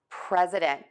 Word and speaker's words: president: So here are two words, precedent and president. So both of these words are going to have three syllables.